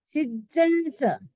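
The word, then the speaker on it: सिज्जंसं: पुप्पदंतम पुप्पदंतम पुप्पदंतम सीयल सी बड़ा है सीयल सीयल नहीं सीयल सीयल सिज्जंस डबल ज है सिज्जंस सिज्जंस सिज्जंस वासु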